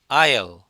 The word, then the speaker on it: aisle: 얘는 AISLE인데 S가 발음이 안 됩니다. I3 아니라 영어 발음은 aisle이에요. aisle. 한번 따라해 볼까요? aisle.